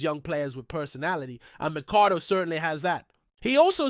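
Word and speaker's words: McArdle: To clarify quickly, his last name is spelled M C A R D L E. Therefore, it's Micardo, not Mardo, if that makes sense.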